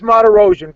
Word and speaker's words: Martirosyan: You know all those other names, but you can't pronounce Martirosyan.